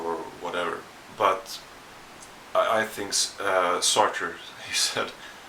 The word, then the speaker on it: Sartre: That's exactly how you pronounce it, Sartre. I'm not going to try to say that in French.